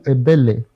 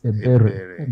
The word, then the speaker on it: Ebele: Just like your former president, they call him Ebele. But the most known is Ebere. But both parents are saying the same thing at the same time.